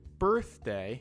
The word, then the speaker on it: birthday: sound er and then with birthday it's the same er sound but the sound is represented by the letter i birthday flower is another er